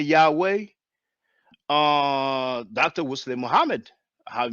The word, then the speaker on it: Yahweh: but that it was most likely pronounced Yahoo but we don't say Yahoo we say Yahweh you know um yeah